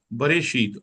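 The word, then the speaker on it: בראשית: यहाँ ब है, ये रे है, अलिफ साइलेंट है, बारिश। और ये शीत है। बरे शीत, अलिफ साइलेंट है जी, अलिफ की कोई आवाज नहीं।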